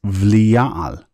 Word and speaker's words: Belial: Notice that the bet here does not have a dagesh, and therefore it's a V sound, and therefore it's Belial. As you can see, the word is pronounced with both a B and a V sound.